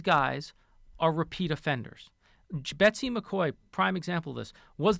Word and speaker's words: McCaughey: And just to help inoculate our listeners against, McCoy is spelled McCaughey.